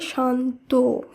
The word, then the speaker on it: শান্ত: ও হিসেবে করতে হবে তাই শান্ত নয় শব্দটির উচ্চারণ হবে শান্ত এখানে ওকার আনতে হবে শব্দের শেষে একইভাবে ধর্ম নয় শব্দটির উচ্চারণ